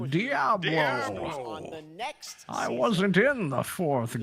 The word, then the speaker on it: Diablo: Ah, Jeff, I see you're another man of good taste that knows it's pronounced Diablo.